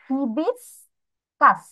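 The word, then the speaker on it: hibiscus: আমাদের এটা একটু মনোযোগ দিয়ে পড়তে হবে ফার্স্ট প্রোনাউন্সিয়েশন কেমন হবে ইবিস কাস ইবিস কাস তাহলে এটার বানান কেমন এইচ আই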